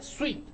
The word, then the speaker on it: sweet: cuidado porque recuerda que se pronuncia de una manera y se escribe de otra entonces esta se pronuncia suite que quiere decir dulce